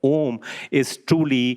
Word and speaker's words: Om: And A and U, when the Sindhi takes place, it becomes an O, and it's pronounced as Om.